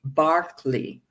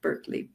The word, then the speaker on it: Berkeley: in England, an Anglican bishop whose name is pronounced George Barkley, if you're British, not Berkeley, Barkley.